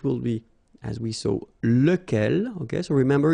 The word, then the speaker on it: lequel: So it will be, as we saw, lequel. Okay, so remember, you've got to pronounce it lequel. Even if you've got this QU, okay, remember that this U phonetically doesn't exist, so lequel.